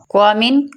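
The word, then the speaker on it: qualm: क्वा mean coil, coil mean तितर, queen शहजादी, coil queen. Acquire, इसमें देखो क्वा की आवाज़ आ रही है, एक्वायर हासिल करना। क्वाम, क्वाम, इसमें एल साइलेंट हो जाएगा लेकिन हम इस टाइम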